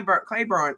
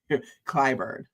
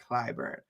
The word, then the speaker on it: Clyburn: is because he wants Jimmy Cly Clayburn out. I always say that nigga's name wrong. Um Clyburn. Jimmy Clyburn.